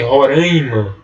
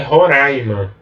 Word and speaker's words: Roraima: a gente mas que as pessoas pronuncie roraima mas o certo é roraima que eu fui na